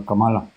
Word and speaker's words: Kamala: off the grid Kamala oh Kamala okay it's Kamala I want to pronounce it the way I speak Spanish is